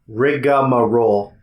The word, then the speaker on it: rigmarole: like that no r-i-g-m there's no vowel rigmarole rigmarole that's weird right rigamarole and like you pronounce a little something something in there but maybe like a schwa his name was rigor